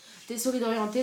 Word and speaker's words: Tessori d'Oriente: Donc je pense qu'il faut le prononcer à l'italienne. Tessori d'Oriente.